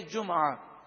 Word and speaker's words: جمعہ: تو اس لفظ کو دو طرح سے عربی میں پڑھا گیا، جمعہ میم پر پیش اور میم ساکن بھی ہے جمعہ، دونوں تلفظ درست ہیں.